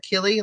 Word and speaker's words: Achille: up from I guess I think it's pronounced like Kelly like a-c-h-i-l-l-e like Achilles tendon but they're way down